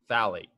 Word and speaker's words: phthalate: KHP stands for potassium, hydrogen, phthalate. So even though it starts with a P, the P is silent because, English language, go blame an English major for that, not me, right?